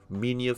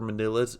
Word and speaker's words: Minilla: that beautiful face and two Mania figures or manilas if you're a psychopath and that's how you say it punch him in the